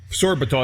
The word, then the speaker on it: sorbitol: Sorbitol, is that S-O-R-B-I-T-O-L, sorbitol? Is that how you pronounce it?